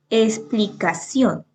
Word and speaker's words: explicación: Por ejemplo, explicación. Explicación lleva el acento en la última sílaba y termina en N. Por lo tanto, pues se tilda.